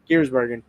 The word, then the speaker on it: Giersbergen: Giersbergen.